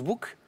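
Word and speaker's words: boek: cl bouquin ouais alors le mot néerlandais s'écrit B O k mais se prononce book et chez nous ça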